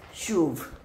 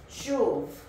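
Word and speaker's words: שוב: The next word is shuv. Shuv. Shuv. Sorry about that. Hold on, my thing, my tripod is broke. Shuv.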